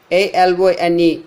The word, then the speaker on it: alone: For example, alone, alone. Alone. Lone is stressed, but not the prefix alone.